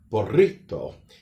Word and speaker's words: burrito: the American way, but the Spanish way would have what we call a rolling R. There would be burrito.